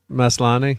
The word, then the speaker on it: Maslany: Maslany, yep.